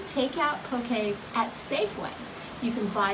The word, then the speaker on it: poke: Poke, P-O-K-A-Y is how you pronounce it. And don't ever call it poke. You will look like a total haole. It's poke, spelled P-O-K-E, pronounced poke.